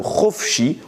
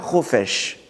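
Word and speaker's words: חפשי: s'il accepte, Yetse la Chofshi, il sortira libre. Yetse la Chofshi. Lisez bien le mot Chofshi, on peut le couper en deux mots, Chofesh et Yud. Mais ne lisez pas Chofesh.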